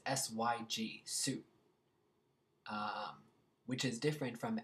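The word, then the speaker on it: syg: I've have been sick so long when you're pronouncing Su sick be careful because it's Sy YG Su um which is different from syy V Sue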